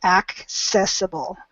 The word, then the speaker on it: accessible: to help you remember accessible so both of those seas are actually pronounced that help okay any